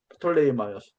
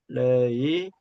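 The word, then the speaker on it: 프톨레마이오스: 프톨레이마이오스. 발음이 좀 어려운데 프톨레이마이오스.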